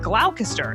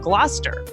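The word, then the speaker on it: Gloucester: Like originally I said glalcaster instead of gluster.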